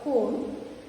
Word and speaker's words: comb: See, when you say the word comb, thumb and climb, the letter B is silent.